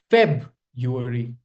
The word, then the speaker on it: February: Okay, there has to be that sound. February. February. All right, that's how you pronounce it.